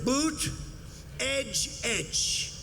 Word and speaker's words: Buttigieg: And they said here's what you do. Boot edge edge. Say edge like the edge of a building.